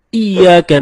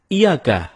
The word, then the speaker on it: iyyaka: temen-temen ketika kita membaca iyyaka nabudu wa iyyaka nasta'in ada yang membacanya dengan Iyakah tidak menekan huruf Ia seperti seperti sebagaimana kita jelaskan tadi bahwa penekanan itu dapat merubah makna kalau kita baca iyakanabudu